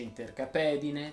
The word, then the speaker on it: intercapedine: prima regola di oggi tutte le parole terminati in ed in e chiedono che la è sia pronunciata aperta andiamo a vedere qualche esempio si dice intercapedine salsedine pinguedine raucedine e